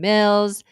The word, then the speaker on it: Mills: My name is Mills, rhymes with bills. You know the one, the dollar dollar bills.